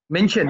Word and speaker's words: Minchin: Is that how you pronounce his last name? Minchin, that's right, yeah.